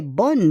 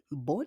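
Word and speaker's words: bonnes: Because bonne idée, c'est féminin, but bonne, regardez, bonne, B-O-2-N-O-S, we don't pronounce the S.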